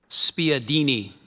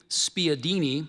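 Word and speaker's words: spiedini: Desireette is spelled D E S E R E T. Spadini.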